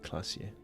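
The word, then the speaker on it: Klaasje: Classier is pronounced classier.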